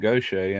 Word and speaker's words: Gaucher: even went to school with a lot of people with the last name Goshay, and it's spelt the exact same way. It's just the way it's pronounced.